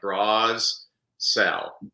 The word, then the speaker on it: Brassell: remember how to spell it's about like bras sell no I never took